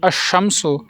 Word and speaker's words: الشمس: ہیں جن کے ساتھ الف لام لکھا تو جاتا ہے لیکن پڑھا نہیں جاتا، جیسے الشمس، الصراط، النصیحۃ۔ لہٰذا شین،